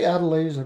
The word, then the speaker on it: Adeliza: I say Adeliza because that's how he pronounces her name.